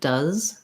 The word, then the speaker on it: does: say for example if i was just saying it does it does with the z sound my tongue can kind